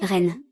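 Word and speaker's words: 人: Ce caractère se lit Ren, c'est ça, n'est-ce pas ?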